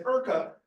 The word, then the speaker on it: Urca: And then, of course, here we say URCA, but the correct pronunciation is URCA.